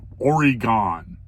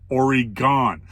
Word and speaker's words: Oregon: I live in the Pacific Northwest, Oregon. Oregon, not Oregon. Oregon. Add an E to the gon, and that's how you pronounce it, Oregon.